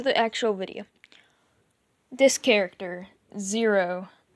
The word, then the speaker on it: Xero: It's pronounced Zero, or at least that's how everyone else pronounces it. X's are pronounced like Z's for some reason.